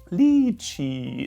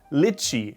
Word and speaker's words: lychee: not correct it is actually the lychee dilichi lichi is wrong lychee is correct remember it next up another food